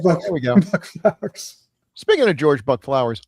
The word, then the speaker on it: Buck Flowers: And just so everybody knows, we're all saying Buck Flowers, but his name doesn't have an S on the end of it. It's Buck Flowers. It's just Flower, just single.